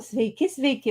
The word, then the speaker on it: sveiki: Oh, sveiki.